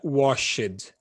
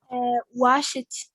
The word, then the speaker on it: washed: tem o verbo wash, apesar dele acabar em ED, a gente não pronuncia washed. Como que a gente pronuncia, Milena? Wash it, tipo com som de T?